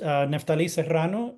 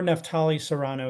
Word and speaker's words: Neftali Serrano: My name is Neftali Serrano, if you can roll your R's and do the accent on the I, or Neftali Serrano is fine as well.